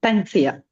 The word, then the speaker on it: Tansia: it pronounced? Tansia. Tansia. Okay. It's Tansia.